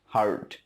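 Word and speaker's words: heard: যেমন হিয়ার মানে শোনা, হিয়ারের পাস্ট ফর্ম হচ্ছে হার্ড, নট হিয়ার্ড, উচ্চারণটা হচ্ছে হার্ড।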